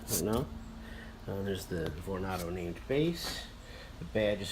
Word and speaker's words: Vornado: So here's the smaller, the first of the two Vornados.